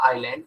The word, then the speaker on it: island: S is silent in that. It is pronounced as the island.